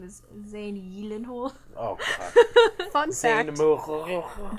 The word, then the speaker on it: Gyllenhaal: You guys all know Jake Gyllenhaal? Yeah. No. His last name is Swedish, so it's actually pronounced Gyllenhaal.